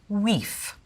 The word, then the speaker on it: wife: The word for wife would be pronounced wief.